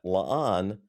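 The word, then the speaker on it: La'an: And then finally, annoying critic said, "I was today years old when I realized that lan rhymes with con.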